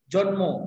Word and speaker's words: জন্ম: ল, ন বা ল, এই বর্ণগুলোর সাথে যদি মু ফলা যুক্ত হয়, তাহলে মুয়ের উচ্চারণটা বজায় থাকে আর যুক্ত ব্যঞ্জনের প্রথমে সুরটা লুপ্ত হয়। যেমন মনে করো জন্ম, কি বললাম?